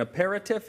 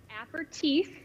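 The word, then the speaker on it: apéritif: steve he said how are we pronouncing how do you pronounce those all right how do you pronounce them and what are they app or teeth and a digestive yes it's french right so maybe you even say with like a french flair accent like an apple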